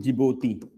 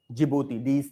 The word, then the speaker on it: Djibouti: Next, military base in Djibouti. It is in Horn of Africa. It's a country. Military base in Djibouti. D-I is silent. Military base in Djibouti, within bracket Horn of Africa.